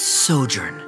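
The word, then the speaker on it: sojourn: Uh, Director Zosimos, how do you pronounce this word? Let me see. Ah, that's sojurnn.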